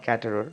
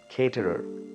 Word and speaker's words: caterer: That is not caterer, that is caterer. It's caterer, right? Go by the syllable also, try and break it, and try and follow the phonetic transcription, which is also given, right?